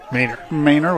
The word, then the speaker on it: Manor: We've been saying it wrong. It's Austin Manor. Manor with a long A, Austin Manor.